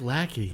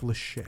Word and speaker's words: Lachey: popular band but let's focus on 99 Nick Lackey that's right Jesus Christ you knew who was